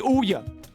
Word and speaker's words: Ouya: That was the Ouya! That's how it's pronounced. It's the Ouya.